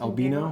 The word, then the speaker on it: Albino: So anyway, albino or albino is how you might pronounce it based on how it's spelled. However, it's pronounced albino.